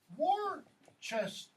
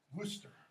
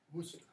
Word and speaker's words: Worcester: Or American crass pronunciation, Worcester. Sure. How's it really pronounced? Worcestershire? Worcester. That's how that is pronounced. Worcester.